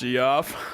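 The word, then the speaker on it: Geoff: Uh, my wife orders pizza and specifically says Goff. Oh, I got you. Hell yeah. Well, I mean, if that's your name and that's how you say it, it's obviously not Jeff, it's G off.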